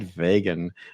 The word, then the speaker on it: vegan: a long time my youngest daughter was uh vegan for a while and for some reason i kept wanting to pronounce it vegan uh i think there's vega